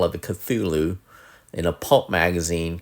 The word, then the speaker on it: Cthulhu: called The Call of the Cthulhu in a pulp magazine called Weird Tales in 1928.